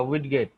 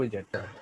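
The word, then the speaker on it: widget: বা উইডগেট। হ্যাঁ, উইডগেট বা উইজেট। স্যার উইজেট এটা পারফেক্ট প্রোনাউন্সিয়েশন না? এটা নিয়ে আমি নিজে খুব বেশি কনফিউশনে থাকি। তাহলে ঠিক হলো, আমার এটা ভুলে। ইয়েস, অবশ্যই অবশ্যই উইজেট, কিসের কনফিউশন, উল্টা পাল্টা কথা যত সব।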